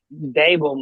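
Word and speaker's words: Daboll: Brian Dable might be on the hot seat.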